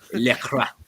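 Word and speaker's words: Lacroix: Lecroix. It's like croissant.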